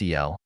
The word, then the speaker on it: Al: Al, pronounced El, is a Chaldean word meaning, among other things, God or the Great One.